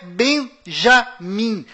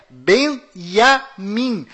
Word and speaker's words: Benjamin: é Tchau Além disso não é Benjamin a pronúncia correta é Benjamin pois lembre-se até hoje não existe em hebraico nenhuma letra com som de Joca confira é bem entre